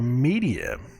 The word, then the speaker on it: Medea: It's spelled Medea, but it's the word, it's Media, it's where it comes from.